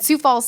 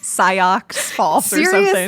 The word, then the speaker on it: Sioux Falls: home thing else and Sioux Falls South Dakota came up I honestly didn't even know how to pronounce Sioux Falls at the time sigh ox Falls no I had no idea so I'm kind of